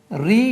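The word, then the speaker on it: ऋ: letter இருக்கு இது வந்து ரி என்று உச்சரிப்பாங்க சிலது வந்து ரு என்று உச்சரிக்கிறாங்க அதை வந்து பாருங்க இதை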